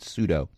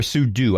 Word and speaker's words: sudo: with the verbal component pseudo actually or sudo i've heard it pronounced both ways but never mind they